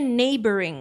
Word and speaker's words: neighboring: Ini bacanya neighboring untuk yang masih bingung.